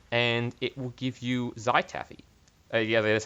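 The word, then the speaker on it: Zhaitaffy: well break them and it will give you zytavi yeah that's how you pronounce it even though it's darker than a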